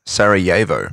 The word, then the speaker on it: Sarajevo: Pronunciation, Sarajevo.